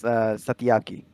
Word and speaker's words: Satyaki: Yeah, that is Satyaki. Actually, Satyaki.